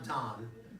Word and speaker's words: Dan: But just plain Don. If you know somebody named Don, D-A-N, not Don, D-O-N. That's Dan. I know, but in Hebrew it's pronounced Don.